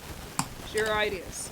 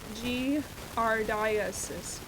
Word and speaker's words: giardiasis: Giardiasis. I'm curious about this. Pronounced giardiasis.